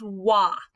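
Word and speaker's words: は: This is wa. I know it looks like ha. When we're using it as the subject marker, it reverts to its old-fashioned pronunciation of wa.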